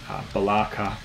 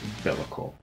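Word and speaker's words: Be'lakor: Hey, this is from the Australian melodic death metal band, correctly pronounced as Bellicor. We've heard a few different ways of saying it. We've heard Balaka, Balakor, and quite a few others, but I can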